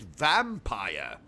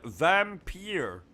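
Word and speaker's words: Vampyr: life is strange and vampire uh vampire what it's pronounced vampir you're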